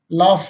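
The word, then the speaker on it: laugh: यदि जी H silent नहीं होता है जिन शब्दों में तो उसमें जी एच का जो उच्चारण है, साउंड है, फाका होता है। जैसे कॉफ मीन्स खांसी, इनफ मीन्स पर्याप्त, रफ मीन्स खुरदरा, लाफ मीन्स हंसना। इन सभी शब्दों के लास्ट में जी एच आया है जो साइलेंट नहीं है और फाकी आवाज दे रहा है।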